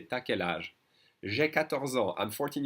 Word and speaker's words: t'as quel âge: When the French speak faster, which is most of the time, they will say t'as quel âge? You have. Will be pronounced ta.